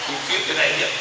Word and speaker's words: Buchanan: Buchanan.